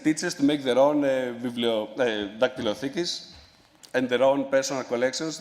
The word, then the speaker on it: Dactyliotheek: It's called Dactylotheki. That's the Greek pronunciation. Sorry about that.